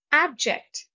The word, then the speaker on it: abject: endure with sand procedure abject stress is on the first syllable abject means completely hopeless